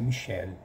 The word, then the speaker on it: Michel: É Michel Foucault, mas em francês a pronúncia é Michel, porque o L vibra.